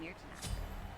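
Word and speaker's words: Myrtenaster: There's no better weapon than my own Mirtanaster. By the way, that's how you pronounce that, An ally has Mirtanaster.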